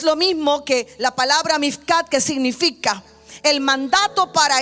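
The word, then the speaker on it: מִפְקָד: Ahora, e la palabra hebrea, en la puerta de la inspección, la palabra hebrea mifcat se escribe m i f k a d.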